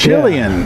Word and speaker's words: Chilean: Chilean. From the country of Chile. Chilean sea bass from the country of Chile, also known as the toothfish.